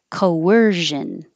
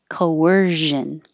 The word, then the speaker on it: coercion: Coercion. Make sure you have a good zh. Coercion.